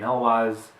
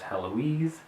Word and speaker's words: Heloise: And yes, I say pronounce the name Helwaz, even though it could be read as Heloise. In an interview, Myke Cole expressed that it's pronounced Helwaz. That's what he was saying in his head as he wrote it, and the audiobook also pronounced it as Helwaz.